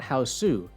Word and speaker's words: Hausu: title is house not houseu from what I can tell the name houseu was given by the internet because it's how Japanese people pronounce the English word house I think the title